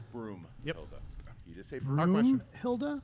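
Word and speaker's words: Broomhilda: he said Brunhilde agreed the answer is broom Hilda broom broom like what you sleep with he said Brunhilde like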